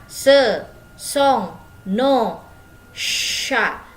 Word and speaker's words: chats: Dibacanya ce sont nos chats. Jadi C sama H itu dibacanya sh seperti huruf shod kalau bahasa Arab.